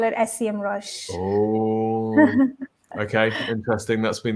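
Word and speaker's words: Semrush: it that's been the I I call it sem Rush Oh okay interesting that's been the conversation on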